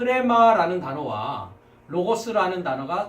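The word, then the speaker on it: ῥῆμα: 지금이 로라는 다음이 처음 때는 목구멍 소리를 합쳐서 레마 크레마 롤의 마음에 이렇게 발음을 하게 됩니다 그래서 오늘 이 시간에는 크랙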